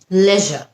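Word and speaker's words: leisure: আরেকটা শব্দ লিজার নাকি লেজার? লেজার হচ্ছে ব্রিটিশ। লিজার হচ্ছে আমেরিকান।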